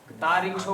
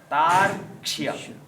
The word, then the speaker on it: तार्क्ष्य: अब यहाँ पर उच्चारण थोड़ा गड़बड़ करते हैं लोग ना, तो स्वस्ति न नस्तार्क्ष्यो, तारिक्षो बोलते हैं कई लोग, तारिक्षो तो गलत है उच्चारण, री तो कहीं है ही नहीं। तार्क्ष्य, तार्क्ष्य शब्द गरुड़ के